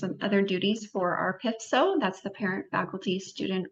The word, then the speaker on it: PFSO: We pronounce it PFSO. It's different than like PTA.